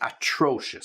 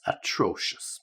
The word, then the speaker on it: atrocious: you are 'terrible' and 'atrocious.' So, just be careful with the pronunciation of that. 'Terrible' is easy, but 'atrocious,' atrocious, okay, just to make sure you get the right stress.